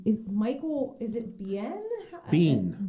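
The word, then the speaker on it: Biehn: michael is it bien bean michael bean like like a jumping bean okay yeah i saw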